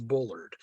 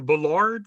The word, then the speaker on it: Bullard: not bothered by it the correct pronunciation is bullard yeah i i the the the bellard thing i i love